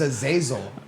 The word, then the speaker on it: Azazel: It sounds like you were trying to pronounce Basil. It's Azazel.